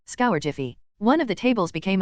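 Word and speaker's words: Scourgify: as he spoke also when you pronounce scour Jiffy soften the GI sound a bit try it again and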